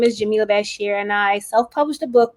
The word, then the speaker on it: Jamilah Bashir: her hi oh hello and my name is pronounced jamila bashir okay but jamila okay great so nice to